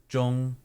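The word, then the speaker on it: Zhong: first first part again Jong Jong so it's like okay there's no z sound which is significant J it's more of Jong Jong any zh sound is more of a j j got it yeah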